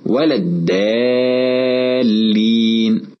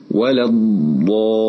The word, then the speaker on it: الضالين: ومن صور الخطأ نطق الضاد ضاء، كأن يقول ولا الضالين، أو نطقها دالا، كأن يقول ولا الدالين، أو نطقها طاء، كأن يقول ولا الطالين. والصواب أن ننطق الضاد مفخمة بها صفة الاستطالة، هكذا ولا الضالين.